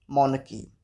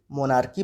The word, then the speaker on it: monarchy: First word is मोनकी। MONARCHY, मोनकी। इस word के pronunciation में काफ़ी गलतियाँ होती हैं। कोई इसे मोनार्की पढ़ता है तो कोई इसे मोनार्ची पढ़ता है, लेकिन सही प्रोनाउंसिएशन है मोनकी।